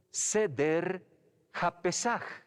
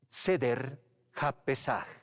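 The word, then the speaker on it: סדר הפסח: Se pronuncia Seder HaPesach. Seder HaPesach.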